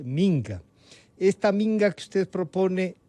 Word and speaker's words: minga: Y usted ha dicho y ha pronunciado como, discúlpeme, yo creo que debe pronunciarse, minga.